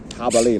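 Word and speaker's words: jabalí: to English I guess where to begin with J is normally the sound like house or hectic you know know so habali is spelled with a J but it's pronounced ha habali like ha anyway there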